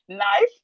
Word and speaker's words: knife: Knife, we have knee, we have no, we have neat, we have knock, knife, knee, no, neat, knock. The K in these words are silent. The K is silent.